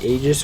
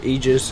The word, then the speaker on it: Aegis: So, if you don't know, Roche is the giant beast in the corner who has the Aegis, or Aegis, however you wish to pronounce it, because they are both correct, and I'm missing a team fight.